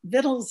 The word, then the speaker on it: victuals: started saying riddles well vittles is how it was originally pronounced the spelling came after the pronunciation and it was an